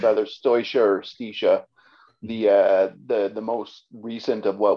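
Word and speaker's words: Staoisha: Stoisha.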